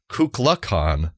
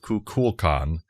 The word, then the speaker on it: Kukulkan: Consequently, Shatner mispronounces the moniker as Kukulkan throughout the episode. I thought he was saying Kubla Khan repeatedly, in fact. He did. That's why when I was just looking up the name, I went, what? Yeah, he says Kukulkan instead of Kukulkan, despite the other characters pronouncing the name correctly because they were all